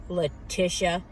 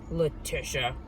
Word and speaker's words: Leticia: works out for leticia leticia you don't even say my name right latisha that's how we perceive it i'm not how it's not how it's pronounced like do you want